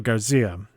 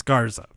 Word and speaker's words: Garza: there's oniy and Alberto versus the lone ángel garcía angel guard oh my god like Garcia it's Garten it's garza car's angel garza dice have evidence did I